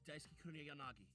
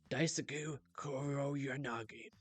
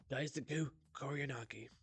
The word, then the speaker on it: Daisaku Kuroyanagi: we're going to we need to pronounce the syllables, Daisaku. Okay, here we go. And my name's Daisaku Kuroyanagi. Daisaku Kuroyanagi.